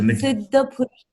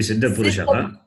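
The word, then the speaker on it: सिद्धपुरुषः: There's a Siddha Purusha. It should be Siddha Purushaha.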